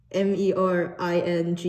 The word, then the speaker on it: meringue: uh do you know how to pronounce m e r i n g u e okay thanks this is a